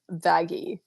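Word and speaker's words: Vaggie: pulled the whole like it's pronounced vaggy wait hold how do you spell that v a g g i e vagy got it no what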